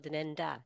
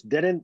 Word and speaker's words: Denendeh: stories about people of Denenda. Denenda, is that how you say it? You're Denenda? close. Denendeh, Denendeh, Denendeh.